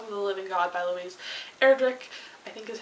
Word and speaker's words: Louise Erdrich: this future help of the Living God by Louise Erdrich I think is how you say that and